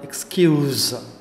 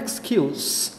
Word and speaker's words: excuse: இதில் உச்சரிப்பு பொறுத்த வரைக்கும் வேர்பாக யூஸ் பண்ணும்போது அந்த எஸ்ஸுக்கு இசட் சவுண்டு வருது, அதாவது எக்ஸ்கியூஸ். நவுனாக யூஸ் பண்ணால் எக்ஸ்கியூஸ் அவ்வளோதான், அங்கே எஸ் சவுண்டு தான்.